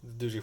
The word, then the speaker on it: Doogee: quite quite confident in Doogie products also I may be pronouncing dooji wrong but yeah if you want I could call it Doogie but I think dooji sounds cooler so I got the rose